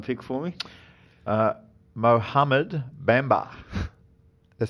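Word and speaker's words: Mohamed Bamba: can you pronounce the potential number 1 pick for me? Mohammed Bamba.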